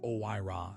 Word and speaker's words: OIRA: OIRA, pronounced OIRA, sits inside the Office of Management and Budget inside the Executive Office of the President.